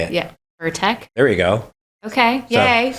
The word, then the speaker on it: Pirtek: Pirtek.